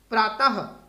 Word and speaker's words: प्रातः: तो क्या है, इसका उच्चारण ह के समान होता है। ह, जैसे अ के साथ लगा है तो अह। जैसे अतः, अतः, त के आगे दो बिंदु लगते हैं। अतः, ह का उच्चारण जैसे हम कर रहे हैं। प्रातः, ठीक है जी।